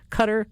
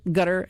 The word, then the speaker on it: Qatar: Cutter, gutter, and Qatar, of course. But Q A T A R to me is pronounced cutter. Gutter may be the appropriate pronunciation in Arabic, but I certainly in